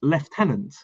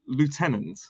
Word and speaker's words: lieutenant: Lieutenant, which I have to say makes more sense because we spell it the same, but we pronounce it with a F sound.